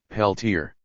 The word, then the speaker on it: Peltier: The name is a shortening of Peltier, but has come to be pronounced in the American fashion, Peltier.